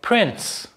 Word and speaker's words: prince: and also words like prince so notice here that in the word prince the t is not even spelled but nonetheless it is pronounced if you're not sure